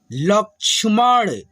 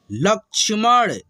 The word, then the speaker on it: लक्ष्मण: झटपट, झटपट, बक, बक, बकबक, अदरक, खटमल, लक्ष्मण। ये जो छ है ना, छ तरह में के छ, इसके पहले आधा क का उच्चारण होता है, ठीक है। लक्ष्मण, सरगम, सरगम, पलटन, पलटन,